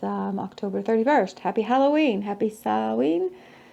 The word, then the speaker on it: Samhain: Happy Samhain. Some people pronounce it Samhain. Some people say Samhain.